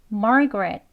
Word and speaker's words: Margaret: 두번 합니다 su su 다음은 마입니다 margar marg이라고 발음할 수 있어요 두 번 해볼게요 margaret 예 트 하는 소리 여기 이제음 이름만네 이름만